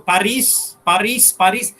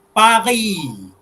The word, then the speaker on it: Paris: Dia orang susah nak sebut S ya kat belakang. Ada some of the word dia akan sebut S, but mostly the word that end with S, they're not going to pronounce it. Example, easy example, kita dah sebut Paris. Dia sebut Paris. Ikan pari. Ya? Tak ada S lah, ikan pari. Ikan pari.